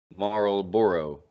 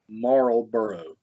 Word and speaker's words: Marlboro: Marlboro. Marlboro.